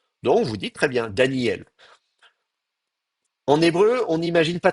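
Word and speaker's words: דניאל: Normalement, ça se prononce Daniel, et le aleph est une consonne qui bloque le passage de l'air. C'est un coup de glotte, hein.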